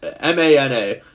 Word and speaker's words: mana: It's it's spelled M A M A N A. How do you pronounce it?